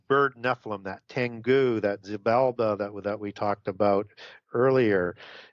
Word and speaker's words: Xibalba: In the Popol Vuh of the Quiché Maya, you have the Zilbaba. I butchered that name, sorry, Xibalba.